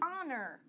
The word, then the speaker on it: honor: Hey tem, Mas existe palavras onde ele é mudo, você não ouve, você não pronuncia o som do Então essa palavra our, honor.